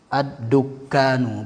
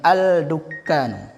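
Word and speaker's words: الدكان: Asy-syamsiyah pasti ditasdidkan nanti. Ad-dukkanu, bukan al-dukkanu.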